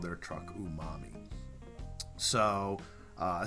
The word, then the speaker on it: umami: that our tongue can pick up it's called umami and that's ooh um am I so I know the truck is spelt oo H - mo mmm I but